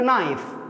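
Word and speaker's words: knife: كالتالي ليفز ها نايف الكي لما ياتي بعده ان الكي ما ينطق دائما القاعده عامه الكي اذا جاء بعده ان فالكي لا ينطق فتصبح لنا نايف سكين نريد ان نجمعها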